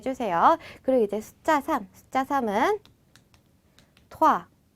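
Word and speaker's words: trois: 그리고 이제 숫자 3은 토아. 자, 여기서도 에그 발음을 막 토아 이렇게 토할 것 같이 하실 필요는 없어요. 그냥 살짝만 토아라고 건드려 주시기만 하면 됩니다.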